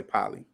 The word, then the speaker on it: pili: They're giving me these weird pronunciations. You know how they give you the scientific pronunciation, and it's still, even the pronunciation is hard to pronounce too. Yeah, y'all kill me. Erector pili. We're gonna say poly, okay?